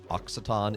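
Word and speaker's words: Occitan: Not not not oxy o it it comes from so the language itself is called oxaton. It's spelled occ.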